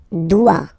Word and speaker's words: dois: Je dois. Okay, remember final S is not pronounced. Je dois. O-I, when you combine the two, you get the sound wa-wa-wa.